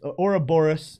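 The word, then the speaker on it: Ouroboros: even be there orais Ora Boris is the way that they're pronouncing this one Ora Boris you got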